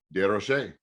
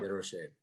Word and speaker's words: DesRochers: DesRochers. Yep. DesRochers.